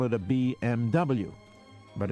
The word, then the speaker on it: BMW: If you want to call a Mercedes a Mercedes, why then you would call it a BMW.